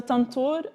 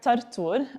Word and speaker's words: Tantur: So a Tantur or Tartur, both are correct, but Tantur is the dominant pronunciation and spelling of the term, is what you see here on the screen.